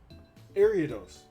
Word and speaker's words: Ariados: Thank you for making this lovely work of I'm still getting Pokemon name wrong. Ariados, that's his name.